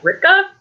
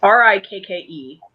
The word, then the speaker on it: Rikke: But yeah, and a great thing about this, this is by, I don't think I'm going to pronounce this right, but it's like Rikka. It's Rikke.